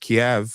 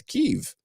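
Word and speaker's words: Kyiv: remembering the rationale correctly Kev is the Russian pronunciation God and keev is the Ukrainian pronunciation right is there that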